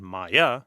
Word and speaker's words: Maya: clear understanding of this Sanskrit Hindu word Maya it's two syllables Ma and ya so let's look to